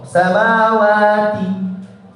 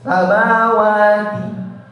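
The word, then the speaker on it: سماوات: Saya membacanya waktu itu pertama pakai seperti to. Samawati. Kurang ringan kata beliau. Samawati. Ringan biasa.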